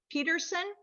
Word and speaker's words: Pedersen: We have Peterson. Excuse me, is it Pedersen? It's Peterson. It is Peterson, even though it's spelled Pedersen, but that's great.